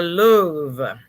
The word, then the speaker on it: Louvre: fifty thousand square feet it's pronounced the louvre all right then wow